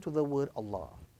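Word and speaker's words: الله: Secondly, if the word Allah in the Arabic text, if that word Allah has a kasra before it, then it would be pronounced with a flat sound, and a flat sound would then be attached to the word Allah.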